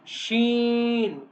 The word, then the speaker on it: ش: Sheen. Sheen. What is this? Shen. Like quiet time. When you say quiet. Okay. Sh. Like this sound. Okay. We will belong for 5 seconds. Sheen.